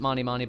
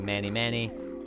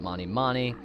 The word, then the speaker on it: Mani Mani: I pronounce it Mani Mani, by the way. Some people say Manny Manny, but I'm gonna go ahead and call it Mani Mani.